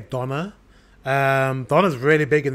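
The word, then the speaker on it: döner: eaten and we D is that how you say it DNA we say Donna um Donna's really big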